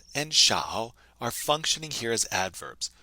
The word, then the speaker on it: 少: The grammar point we want to focus on here is the adverb 少, pronounced S-H-A-O using your third tone. 少. So when we're using 多 or 少 to express the idea